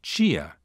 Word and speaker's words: tia: This occurs in Brazilian Portuguese whenever a word contains a DI, as in dia, or a TI, as in chia, which means ant. Palatalization also occurs in Brazilian Portuguese whenever a word contains a final unstressed DE, as in verdade, which means truth, or a final unstressed TE, as in brilhante, which means brilliant.